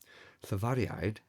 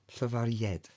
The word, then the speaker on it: llafariaid: So because the letter I is followed by some vowels, we pronounce it as a y a y sound like the y in u in English.